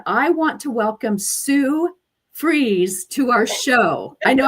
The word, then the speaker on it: Fries: want to welcome Sue freeze to our show I know I'm really careful with your last name because in my mind before it was fries I'm like I better say it right how are you today